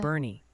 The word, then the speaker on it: Boerne: Bernie.